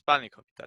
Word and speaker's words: Spanakopita: But the emphasis is on Spani. It's Spanakopita.